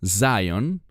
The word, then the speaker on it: Zion: Bueno, la palabra Sion, que en inglés se pronuncia Zion, esa palabra es una palabra de reino.